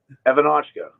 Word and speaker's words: Evanochko: Evanochko. Yeah, I would have never gotten that. It's actually, if you look at it, it's phonetically just like it's spelled.